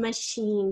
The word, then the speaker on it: machine: The machine sh sound is spelled with a C-H, and the een sound, instead of being like double E-N, is spelled I-N-E.